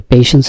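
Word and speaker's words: patience: পেশেন্স এর উচ্চারণ হচ্ছে পেশেন্স।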